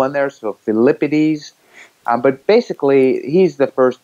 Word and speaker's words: Pheidippides: about who we call Pheidippides, and it's pronounced Pheidippides, I believe, in Greek.